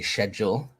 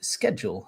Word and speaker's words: schedule: C is silent. In America, yeah, you'd say schedule, but we say schedule here in the UK.